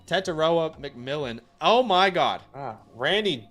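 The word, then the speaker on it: Tetairoa: Tataroa McMillan.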